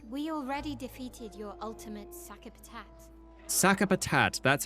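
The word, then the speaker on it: Sakapatate: We already defeated your ultimate sakapat. Sakapat. That's how you pronounce that.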